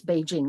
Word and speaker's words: Beijing: The city that we know as Beijing or Peking has always in the northern Chinese dialect been known as Beijing. That's how it's pronounced.